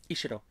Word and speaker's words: Ishiro: On the other end of the scale, Ishiro, how do you say it? Ishiro. Ishiro. Ishiro. Also, you got to say it in the English phrasing, not in Japanese.